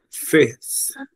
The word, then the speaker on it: fifth: Você lembra como que pronuncia o TH? Entre os dentes. Isso, a língua entre os dentes assoprando, né? Então, fifth.